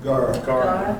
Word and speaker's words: gaura: I see these on, is it guara or gaura? How do you say it? Gara. Thank you, gaura.